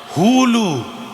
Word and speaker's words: হুলু: উলু নয়, হুলু। উচ্চারণটা হবে হু লু।